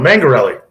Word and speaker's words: Mangarelli: So how do you say, is it Mangarelli or Mangarelli? The second one, Mangarelli.